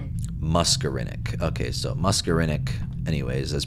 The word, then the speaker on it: muscarinic: Muscarinic pronunciation. Muscarinic.